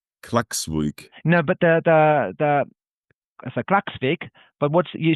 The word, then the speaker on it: Klaksvík: Yeah, normally we say KÍ, but the town is called Klaksvík. Okay, Klaksvík. Klaksvík. No, but the so Klaksvík.